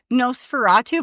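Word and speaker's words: NOS4A2: series by Joe Hill called No Fatu but it's spelled nos4 A2 and it looks like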